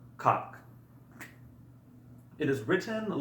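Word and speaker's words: как: So the first word we're going to learn is the word for how, and it is pronounced kak.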